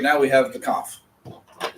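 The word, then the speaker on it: כף: I need to hear that pronunciation For the cough. for the kaf and the chet.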